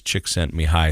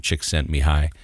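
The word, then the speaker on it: Csikszentmihalyi: book called flow and his last name is chick sent me high so if it starts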